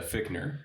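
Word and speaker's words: Fichtner: bring him back yeah fickner no fickner yeah it's spelled fissner but yeah uh Victor he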